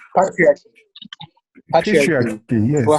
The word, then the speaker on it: patriarchy: That's like Patrice. 5. You can only have one word of the day. I don't know what's going on. How do you say that word? You say patriarchy.